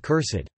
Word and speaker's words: cursèd: This use is frequently seen in archaic and pseudo-archaic writings with the -ed suffix, to indicate that the e should be fully pronounced, as with cursed.